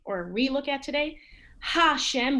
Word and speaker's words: Hashem: we look at today hashem we don't say a shem and it's not like the french where the h is not pronounced at all um